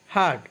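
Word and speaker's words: heart: হার্ট অর্থ হৃদয়, হার্ট অর্থ হৃদয়। মাঝখানে আরের উচ্চারণ হবে না, যেহেতু আরের পরে পিওর কনসোনেন্ট তাই আরের উচ্চারণ হবে না, যদি বায়াল থাকতো তাহলে উচ্চারণ হতো।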